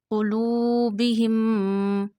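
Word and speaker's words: قلوبهم: Fa ya kasra fi qulubihim. Read qaf with a thick voice. This is mustalia qaf. This is not kaf.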